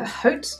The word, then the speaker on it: Haute: Haute is a French word, right? So wouldn't that mean that the H is silent?